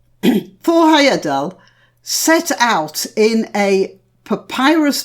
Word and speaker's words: Heyerdahl: you will be amused I'm going to try say his name properly it would be Thor Heyerdahl but that puts my tummy in the wrong place for the rest of what I'm saying so I'm afraid it's going to stay Thor Heyerdahl for the rest of this talk Thor Heyerdahl set out